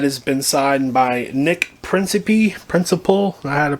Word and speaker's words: Principe: That has been signed by Nick Principe, I had to pronounce it, P-R-I-N-C-I-P-E, and Daniel Harris.